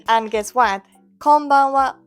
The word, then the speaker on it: こんばんは: Konbanwa works exactly the same.